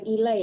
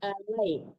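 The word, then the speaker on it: عَلَيْ: subh ilaishu biqorib mande bukan ilai tapi alai alai ya tadi bacanya ilai alai ya iya maaf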